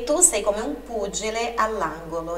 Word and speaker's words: pugile: E tu sei come un pugile, olha aqui o GE também. GE, GE tem um som explosivo. Angelo, pugile.